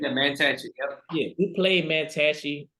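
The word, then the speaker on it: Mantachie: I think I pronounced it right. Is it Mantachi? Is that correct? Yeah, Mantachi.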